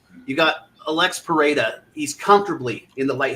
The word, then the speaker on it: Pereira: was from Brazil and they always pronounce it Pera so I'm just gonna go with that it's not it's just not something you could possibly script right I mean it's you got Alex pereda he's comfortably in the